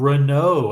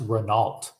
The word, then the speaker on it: Renault: you uh I yearn for the days of Renault and that's how it's pronounced by the way it's not pronounced Renault it's fren so Rena is a good brand